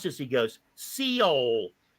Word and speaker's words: Seoul: does is read articles, there was the word SEOUL, and he could not pronounce it. How do you pronounce this? He goes, Seoul.